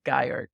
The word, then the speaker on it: Geier: me today I've got with me Carolina Guyer co-founder at mint base at Kahari Caroline good